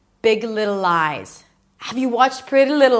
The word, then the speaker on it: Big Little Lies: It starts with a B, relaxed in, not big, but big. Big. Move on to the word little. You already know how to pronounce it. Big little and then another L. Lies. Close it with a Z.